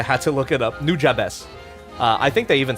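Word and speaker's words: Nujabes: about the soundtrack and I liked new jabes that's how you pronounce it I had to look it up new jabes uh I think they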